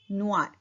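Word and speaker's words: noir: Black board को बोलेंगे ताब्लो नुआर. जो नुआर है वो ब्लैक कलर का नाम है. न उआ. ओ आई का साउंड होता है उआ. नुआर.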